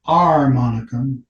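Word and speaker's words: armonica: The R monicum, notice I'm pronouncing the A, was an improvement on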